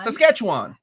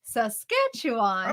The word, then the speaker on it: Saskatchewan: I will help you with Saskatchewan sasketchewan it's said like sasketchewan mean that say it fast hope that helps I